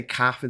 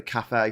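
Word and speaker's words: café: me up the wall when people say Cafe inste a cafe it's got It's got an accent on the emay it's a CA it's a cafe um the toys don't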